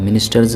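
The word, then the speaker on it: ministers: मिनिस्टर्स में जो एस है उसको ज़ पढ़ेंगे।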